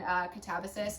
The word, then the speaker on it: Katabasis: If you read this one and you like it, would definitely recommend Catabasis. And that, yes, that is how you say it. It's not Catabasis.